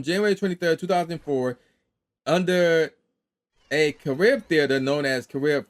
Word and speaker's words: Carib: So it came out on January 23rd, 2004 under a Carib theater known as Carib 5, Carib, C-A-R-I-B, that's how you pronounce it.